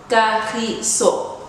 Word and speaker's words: Kagiso: The G is a hard G in the way that you would say Gert or Gemsbok. Kagiso.